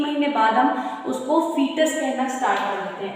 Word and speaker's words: foetus: महीने बाद हम उसको फीटस कहना स्टार्ट कर देते हैं, FOETUS, फीटस। इसका ओ साइलेंट होता है, हम इसको लिखते हैं FOETUS, फीटस।